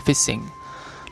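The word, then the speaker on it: phishing: lalu yang selanjutnya adalah fishing fishing atau kalau prononciation yang benar adalah fishing Nah kalau fishing sendiri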